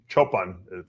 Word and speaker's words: Choopan: And obviously, Hadi Choopan, or Choopan, is what I'm being told. Milos told me is the right way to pronounce it.